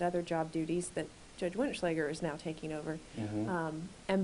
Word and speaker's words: Wenetschlaeger: Judge Winnichleger.